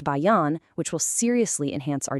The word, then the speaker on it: Bayan: Then we have the BAAN platform, pronounced Bayan, which will seriously enhance our data capabilities.